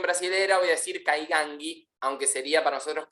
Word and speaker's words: Kaingang: experiencias con el pueblo caigangui la pronunciación en Brasil siempre ellos le agregan a la última consonante le agregan una vocal como dicen por ejemplo